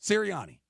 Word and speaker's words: Sirianni: Sirianni. Sirianni.